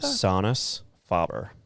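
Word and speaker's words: Sonus Faber: Um, right now it's Sonus Fabber. They're 100% made in Italy. What was it? How do you say that? Sonis Fabber.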